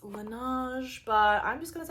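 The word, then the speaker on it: Laneige: I always say Linage and you guys get pissed off at me. Apparently, it's pronounced Lan, but I'm just going to say Lanage because that's how it rolls off my tongue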